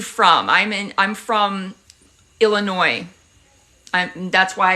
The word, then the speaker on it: Illinois: I'm in I'm from Illinois I'm that's why I don't call it Illinois the US is silent ah I was there